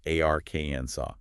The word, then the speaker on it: Arkansas: A r ken saw with the final s absolutely silent.